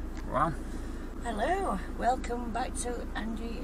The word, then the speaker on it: Tryfan: Tryfan. Hello, welcome back to Angie and Scott's WILDCAMP. What are we doing today, Angie? We're going to Tryfan, planet of the Tryfans. Keep saying Tryfan, but it's pronounced Tryfan, isn't it?